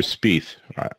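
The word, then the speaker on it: Spieth: know you look at Jordan spy and he's or spe I'm have I been saying it wrong all this time no I think you're right spe um but you look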